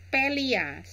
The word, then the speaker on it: Palia: hari ini untuk memainkan Thalia Thalia orang bilang cara membacanya guys jadi semoga hari